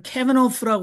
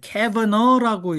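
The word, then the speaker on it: Cavanaugh: 요게 이제 우리 김상재 목사님은 캐버너프라고 그러는데 사실 영어권에서 특히 미국에서는 이제 캐버너라고 얘기하거든요. 그 윌리엄 네, 캐버너. 캐번. 왜냐하면은 이제 사실 예, 아무튼 캐버너라고 발음을 해요.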